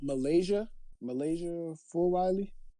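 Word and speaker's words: Milaysia Fulwiley: Trey, you was talking about Malaysia Full Riley.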